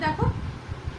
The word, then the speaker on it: the: তাহলে যে কোনো ভাওয়েল সাউন্ডের আগে আমরা দ্য এর উচ্চারণ দি করি, ওকে?